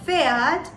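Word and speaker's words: Pferd: is feared feared now in this word feared the p or the p is silent and what we have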